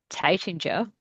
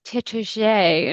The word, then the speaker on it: Taittinger: when I went to what I had always called Taitinger. And Yes. they're like, oh no, it's Tétager. And I Oh, was like, oh, Tete. Tétager. And it's like, that's not how it's not spelled like that.